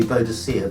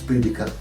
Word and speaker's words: Boudica: We pronounce it different ways. When I was young it used to be Boadicea, but now I believe it's Boudica.